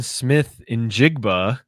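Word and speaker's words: Smith-Njigba: Another record that quietly could fall here is Jackson Smith Injigba.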